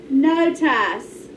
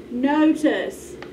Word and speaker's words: notice: the bible's wrong again we need to give it a schwa sound and let's see if it sounds right now uh now let's try note us notice i can give you